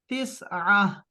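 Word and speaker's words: تسعة: اور عین کے لیے 3 ڈالیں اور پھر AH لکھیں تو تسعہ ابھی آپ صحیح بول سکیں گے پھر اس کو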